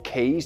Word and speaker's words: K3s: labs announced GA 4k 3s or keys depending on how you like to pronounce it and we're gonna talk